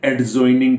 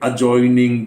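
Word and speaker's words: adjoining: हम लोग बोलते हैं एडजॉइनिंग बिल्डिंग, जबकि वहां पे ADJ में डी साइलेंट है, होना चाहिए अजॉइनिंग बिल्डिंग।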